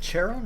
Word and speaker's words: Charon: That double laugh Charon does is weird. Is it Charon or Charon? So I feel like I'm probably saying it wrong. Use the K-sound?